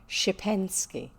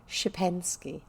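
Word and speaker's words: Szczepansky: how you write it you call it shipensky there you go now i know how to say it shipansky the old gentleman took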